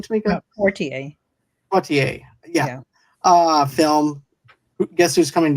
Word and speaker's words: Poitier: Poitier, yeah.